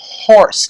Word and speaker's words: horse: Então o H, no inglês, ele tem som do R português, tá? Então a pronúncia de um cavalo em inglês é a horse.